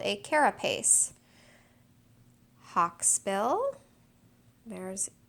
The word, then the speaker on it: carapace: covering of a turtle I'm not quite sure if I'm pronouncing that correctly but carapace three syllables I think I am